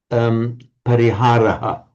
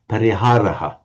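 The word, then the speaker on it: परिहारः: Okay, the answer is you've got this word in its raw form standing on its own, pariharaha, we'd say, pariharaha. Yes. And if we're pronouncing the word in isolation or at the end of a word group, and in particular at the end of a verse, then pariharaha.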